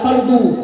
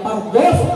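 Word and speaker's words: فرض: Kenapa tak fardu? Karena bacanya fardhu setelah huruf dot itu ada huruf sod.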